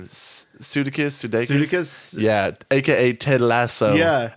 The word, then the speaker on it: Sudeikis: Sudeikis?